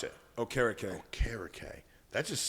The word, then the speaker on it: Okereke: And pronounce it. Okereke.